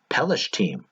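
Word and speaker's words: פלשתים: And don't worry about the English translations of the last 2, the Philistines and the Kephtorites, because in Hebrew they are pronounced Pelishtim, Kephtorim.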